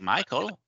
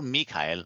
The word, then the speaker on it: Michael: you have somebody like Michael Michael or Mikhail or how do you say that it's both it's okay Michael um it's both okay but Mikhail is your name I mean the German German yes yes good uh